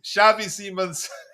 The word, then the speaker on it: Xavi Simons: Shavei Shavei Semons.